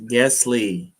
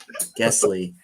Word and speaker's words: Guessly: Lydia says it's pronounced Guessly. Guessly.